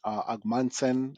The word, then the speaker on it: Ogmundson: Economist at BCA uh brand name AGM Manson I believe that's how you say his name and he had about